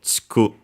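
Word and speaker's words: ちく: exclusively used one is chiku. As a reminder, between E and E between unvoiced consonants are barely heard, if at all, so chiku.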